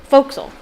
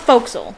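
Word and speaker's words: forecastle: us how to pronounce pronounce uh faux castle foxel it's pronounced foxyl but it's spelled faux castle or forecast it's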